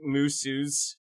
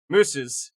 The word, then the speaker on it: musos: Musos equal musicians, pronounced musus. Oh! Mooses.